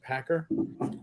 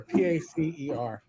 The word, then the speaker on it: PACER: should be a summary on uh was it Packer the uh Federal uh yeah so it'll it'll start coming out Packer p-a-c-e-r huh Pacer pack or whatever dude I see